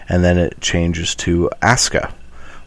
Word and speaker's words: Asuka: She walks out, and then it changes to Asuka, which looks like you would pronounce it Asuka, but it's pronounced Asuka.